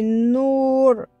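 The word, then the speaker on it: نور: Et ça fait nour. Et le waw ici, il n'est pas prononcé, mais ça donne ce son-là.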